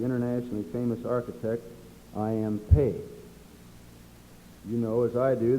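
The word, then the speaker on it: Pei: famous architect i am paige you know as i do that this name is spelled p e i and most of us would probably pronounce it pie this plan was then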